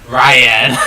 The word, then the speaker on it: Ryan: You're pronouncing it weird. It's Ryan. Ryan!